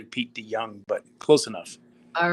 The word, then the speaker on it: De Jong: a dutch name so the j in in holland is said like a y so it's actually p d young but close enough all